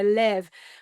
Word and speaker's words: Lew: a Polish background and the W would have been pronounced with a V. So Lev, which is really interesting